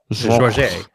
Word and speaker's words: Georges: How do you say Georges in French? Georges. Georges. Just take and then say the name. Say the Americanized name. So say George with peanut butter in your mouth.